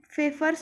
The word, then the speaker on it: Pfeffer's: These are of two types, that is arc oxenometer and Pfeffer's oxenometer. P is silent in this Pfeffer's word.